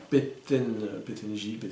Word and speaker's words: Pettengill: évidemment, P-E-2-T-E-N-G-I-L, L, 2 L à la fin, Pettengill, voilà.